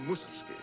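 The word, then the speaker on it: Mussorgsky: Kiev rimsky-korsakov Tchaikovsky and Mazursky pronounced in Russian mooses key to mention only a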